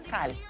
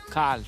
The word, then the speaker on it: Cole: Pronuncio el Cole así porque a nuestro editor le encanta como sobrepronunciar. Sí. Como un Schweinsteiger. Pero es Cal. Cal.